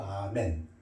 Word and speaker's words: 아멘: 그것도 또 아멘. 이거 절대로 에이멘 영어가 아닙니다.